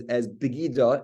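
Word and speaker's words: בגידה: We read the word as it's pronounced. It's pronounced as begida, as treachery, being a traitor, not treachery, being a traitor.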